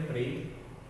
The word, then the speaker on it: प्रेम: शब्द बनेंगे प्रेम, और जिस वर्ण के नीचे होता है उसके बाद इसका उच्चारण किया जाता है। जैसे प में एक ही मात्रा है तो प्रेम, पे में फिर र लगेगा। प्रेम जिस वर्ण में होता